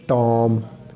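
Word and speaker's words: tomb: अच्छा, लैम लफ्ज़, हर वो लफ्ज़ जो बी पे ख़त्म हो और उससे पहले एम हो, वो जो बी है वो साइलेंट होगा। For example lamb, for example टॉम, for example Baum, in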